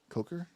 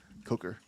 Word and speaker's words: Coker: So Gareth Cocker did Coker? Cocker? Coker? I'm not saying his name wrong. Coker.